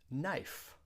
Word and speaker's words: knife: For example, the word knife. Knife. We don't say knife. We just say knife. The K is silent.